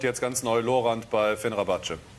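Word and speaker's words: Fenerbahçe: Und jetzt ganz neu Lorand bei Fenerbahce. Fenerbahce. Fenerbahce. Nicht Fenerbahce, Fenerbahce. Fenerbahce.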